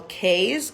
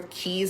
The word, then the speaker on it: cay: So some people say Key. It's C-A-Y, regardless how it's spelled is C-A-Y. But I think when people see C-A-Y, they automatically think K.